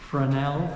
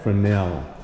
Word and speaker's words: Fresnel: Fresnel. Fresnel. Okay. Yeah, S is silent.